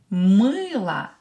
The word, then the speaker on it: мыло: Мыло. Давайте напишем. Let's write it down. Мыло. O is stressed. I is stressed. I'm sorry. So O will be pronounced as A.